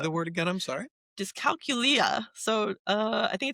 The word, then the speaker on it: dyscalculia: Especially math and me, dyscalculia. I just learned how to pronounce that word.